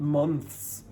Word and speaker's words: months: So that th is not pronounced like v. It's pronounced more like months months.